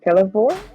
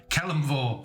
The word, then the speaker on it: Kelemvor: Sorry, I butcher these names. Celevor? No, Helm. Kelemvor.